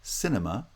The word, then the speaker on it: cinema: Cinema has stress on the first syllable only.